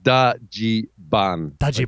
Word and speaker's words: Dajiban: together but with uh no no V because there's no V in the Japanese language and it's and there's no there's no dge sound either so it's D AI essentially right yeah it's like da gban d d a d a j i b it's hilarious DOD so